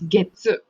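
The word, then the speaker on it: 月: the way you read it is Getsu. Gatsu. Getsuyobi. So, Gatsu. but if when it comes to month, you use Gatsu.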